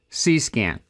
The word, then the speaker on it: CsCAN: control station can and it's pronounced just like i'm saying it c-scan it's a horner network